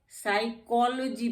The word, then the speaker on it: psychology: साइकोलॉजी पढ़ते हैं इसको हम, साइकोलॉजी नहीं पढ़ते हैं, क्योंकि ये PS आ गया इकट्ठा। यहाँ जब PS इकट्ठा है तो हमारा P साइलेंट हो जाएगा और हम पढ़ेंगे साइकोलॉजी।